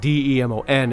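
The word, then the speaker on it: daemon: lack of a better term demon not like d-e-m-o-n it's d-a-e-m-o-n demons are like a complicated concept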